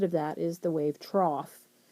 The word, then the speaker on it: trough: that is the wave trough spelled kind of strange but um that's how you pronounce that it's the trough think of like a feeding trough for animals or something like that and that's going to